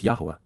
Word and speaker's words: Yahowah: the covenant, Beryth, the family-oriented relationship agreement, with Yahowah, the proper pronunciation of the name of Eloah, God as directed in his Torah, teaching regarding his Haya existence and our Shalom.